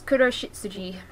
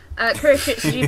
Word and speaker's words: Kuroshitsuji: It's Kuroshitsuji, Book of Circus. Yes, I know nothing about this. It's black shit Suji. It's Black Butler. I'm waving hand cream around. I'm going to put that down. Kuroshitsuji Book of Circus, which takes place in the